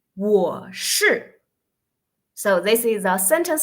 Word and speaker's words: 我: That's we pronounce round our lips. So it's 我 You're right?